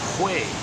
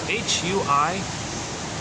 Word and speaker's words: Hui: I'm guessing the way to pronounce it is if you take the word who and then way, like who knows the way kind of thing, put the who and the way, blend it together, it's like Hui.